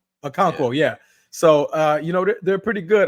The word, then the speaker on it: Okonkwo: I can never pronounce his name. Agankwe. Okonkwo, yeah.